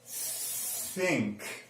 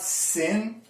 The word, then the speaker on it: thin: So it's not sin, it's not zin, it's not tin, it's thin.